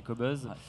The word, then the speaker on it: Qobuz: C'est vrai qu'on a tendance à prononcer Qobuz ou Qobuz, mais en général on dit Qobuz, qui vient de cet instrument kazakh très ancien.